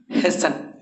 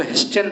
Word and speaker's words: hasten: तुरंत करना, जल्दी करना, हैसन। यहाँ हैसन पढ़िएगा, इसको टी साइलेंट होता है, HASTEN, हैसन मतलब जल्दी करना। बहुत विद्यार्थी इसको हेस्टन पढ़ देता है, याद रखिएगा इसको गलत वो पढ़ता है।